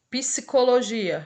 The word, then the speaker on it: Psicologia: Psicologia, eu pronuncio tanto o P quanto o S.